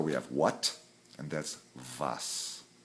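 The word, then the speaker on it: was: W in German and the letter W is pronounced remember as the letter V okay so we have what and that's vas like V is D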